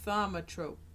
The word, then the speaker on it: thaumatrope: what that name is vomit rope vomit rope three syllables throw the syllables in